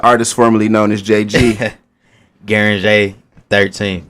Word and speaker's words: Gueringer: your name the artist formerly known as jg guaranjay 13. guaranty all right you got it now man how